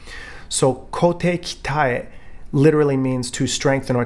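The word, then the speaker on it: 鍛え: Ryu practice of kote kitae. Now, you hear this mispronounced all over the United States and all over the world as kote kite or some variation thereof.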